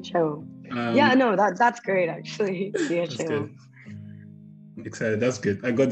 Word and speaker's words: Chia Chou: I hope I pronounced that right. Chou. That's great, actually. Chia Chou.